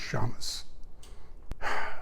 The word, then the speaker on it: Szames: a l d and my last name they'll spell s is in s z as in zebra a m is a Mary e s pronounced Shamus was born two weeks